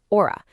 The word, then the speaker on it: hora: Once again, remember that silent H rule applies to the word hora. It's just pronounced hora.